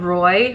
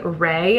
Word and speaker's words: Roy: She called Roy Ray at one point, and yes, I clocked it.